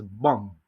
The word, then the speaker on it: bomb: Ahora sí, la B silenciosa. Aquí, como vamos a ver en estas dos palabras, no se dice la B. Solo decimos bomb, tum, bomb, tum, bomb, tum.